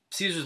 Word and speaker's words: Caesar: Members of the Legion pronounce its name in the classical Latin way with a hard C sound. This resembles the German word Kaiser, which means emperor. Now, in the game, Caesar's Legion is in a